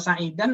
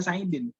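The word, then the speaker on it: سعيد: Ya, nah itu Sa'id saja bisa dibaca macam-macam tuh. Ya, satu kata doang itu. Bisa Sa'idun, bisa Sa'idan, bisa Sa'idin. Ya, kalau pengen aman, udah disukunin aja belakangnya.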